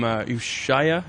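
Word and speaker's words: Ushuaïa: It's also featured on the mix CD from Armin from Ushaya.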